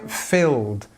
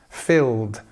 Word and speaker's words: filled: Here we are, we have it here, filled, filled. Okay, and there you'll find the ed has the d sound.